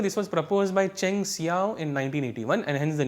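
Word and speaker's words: Hsiao: And now the second procedure is called as Xiao procedure, right, so probably the H is silent here, it is called as Xiao procedure.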